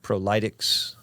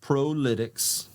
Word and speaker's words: ProLytX: name and try to figure out how to pronounce it I've heard prolic I've heard pretex um but I think there's a there's a